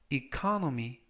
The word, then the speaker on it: economy: 이번 표현은 economy, 라고 발음하시면 되겠고요.